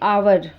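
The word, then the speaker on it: hour: भी होते हैं जैसे आवर आवर ये शुरू तो होता है एच ओ यू आर लेकिन यहां एच साइलेंट होने की वजह से इसे हम आवर पढ़ते हैं लेकिन लिखते हैं इसको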